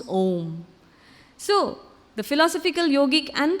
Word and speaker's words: Om: And usually, just like we have this very powerful syllable, Om, and we write A, U, and M, or you can say Om, like that it goes. And when they blend together, it forms Om.